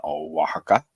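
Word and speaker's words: Oaxaca: get down to Southern waka waka spelled with an o x um on the Pacific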